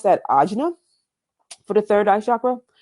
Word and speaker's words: ajna: And you pronounce that ajna for the third eye chakra.